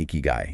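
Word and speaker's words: ikigai: state and finding your reason for being your icky guy. Is that how you say it? Icky guy.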